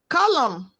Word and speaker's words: column: Column, solemn, letters MN. N is silent.